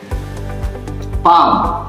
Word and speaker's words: palm: Then come to the point, L is silent. Where is L silent? Suppose would, should, fork, half, could, palm, P-A-L-M, palm. So L is already silent.